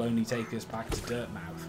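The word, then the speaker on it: Dirtmouth: derp now yeah yeah but it's like it's like bournemouth you know it's on bournemouth born i was born a mouth you know it's over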